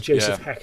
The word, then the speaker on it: Joseph Hecht: name of joseph hecht we got it right last time he said we our pronunciation was perfect of joseph hecht last time but it's a superb